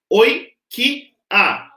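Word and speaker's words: οἰκία: Então é oi, ki, a. De novo, oi, ki, a. Mais uma vez, oi, ki, a. São 3 sílabas.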